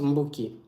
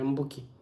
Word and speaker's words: Mboki: On n'utilise pas le OU pour dire Mbo en Kikongo. Donc, il faut mettre seulement le U. On enlève le O là. Et ça se prononce Mboki. Voilà. Donc, le OU ne s'écrit pas en Kikongo. Donc, il faut enlever le O et après, tu laisses juste le U. Ça devient Mboki.